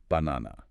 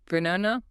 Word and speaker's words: banana: The word banana illustrates this perfectly. I mean, it is spelled with three identical a's, but we don't pronounce it banana. No, that requires way too much muscular effort. We only stress the middle syllable. The first and last syllables completely deflate into schwas.